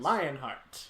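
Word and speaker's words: Leonhart: choosers which I believe is supposed to be pronounced and Lionheart it's but it's spelled leo yeah okay so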